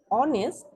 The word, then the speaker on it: honest: language wrong why because the word honest doesn't start with h h silent instead of being honest